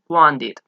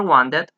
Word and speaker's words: wanted: pronunciar, en el pasado, se va a pronunciar las dos letras, el ed. Por ejemplo, want, en pasado sería wanted, or wanted, both are correct.